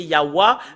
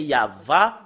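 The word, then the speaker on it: יהוה: c'est en langue européen le W A le fait de le prononcer concernant la vérité c'est normalement d'après les Européens c'est yaa mais si nous revenons à l'hébreu ancien c'est yava le pronon la prononciation et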